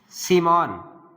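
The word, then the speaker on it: Schiemann: लिखो BALZ, सीमॉन, bulge, bulge सीमॉन, spelling SCHIMANN, सीमॉन, SCHI।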